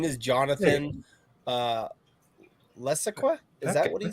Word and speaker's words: Levesque: It's pronounced Levesque. Levesque.